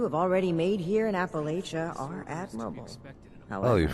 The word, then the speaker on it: Appalachia: But you know it's pronounced Appalachia, right?